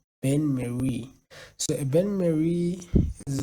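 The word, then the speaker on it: bain-marie: explain them first then Ben Marie b a i n m a r i e Ben Mary so a Ben Mary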